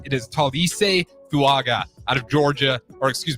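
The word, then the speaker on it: Tuliese Fuaga: 14 to New Orleans Saints uh and to pronounce his name it is Talis fuaga out of Georgia or excuse me out of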